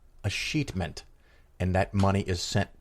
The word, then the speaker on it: Escheatment: E-S-C-H-E-A-T-M-E-N-T. Escheatment. So it's E-S-C, heatment. Heatment. Escheatment.